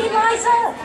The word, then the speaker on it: Liza: But when you're a Liza, you always have to say, it's Liza with a Z, not Lisa with an S, but Lisa with an S goes smug.